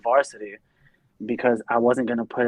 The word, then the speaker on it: VRSTY: like mispronounced it like oh i love you guys varstai i literally just posted like a status about this like yesterday and it even says it in our bio on ig like it's pronounced varsity every time i go somewhere we have a shirt literally that says it's pronounced varsity okay thanks oh man because